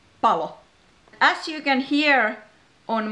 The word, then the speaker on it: palo: So be careful with length of vowels and consonants. For example, pallo with two L's is ball, and palo with one L is fire. Pallo, palo.